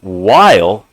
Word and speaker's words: while: And in the word while, we have the WH saying W like a W. The H is silent there. And then the E at the end makes the I say its name. So it's W, I'll. And the E is silent. So while.